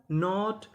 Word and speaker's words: knot: अगर आपको एन से पहले के लिखा मिले तो हमें के का उच्चारण नहीं करना होता, हमें उसके बाद का उच्चारण करना होता है।